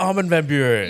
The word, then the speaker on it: Armin van Buuren: Armin van Buuren? Did I pronounce that right? Armin van Buuren.